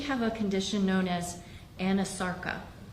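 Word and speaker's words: anasarca: a condition known as Anasarka? If I'm not mispronouncing it. No, you're pronouncing correctly. She did have a condition called Anasarka.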